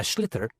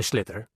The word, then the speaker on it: sliotar: And basically, you have to get this ball, called a sliotar, that's S-L-I-O-T-A-R, so it's not spelt the way it's pronounced.